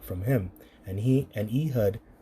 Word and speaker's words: Ehud: and he and Ehud or Aawad, that's his name, Aawed when you when you pronounce it in the Paleo, uh came unto him,